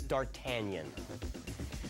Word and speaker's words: d'Artagnan: day archean hot no they want a really complete pronunciation it's d'Artagnan George Westinghouse in Nikola